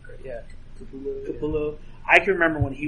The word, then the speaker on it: Capullo: I can remember when Greg Capello was a new guy. Did I pronounce his name right? Yeah. Capullo.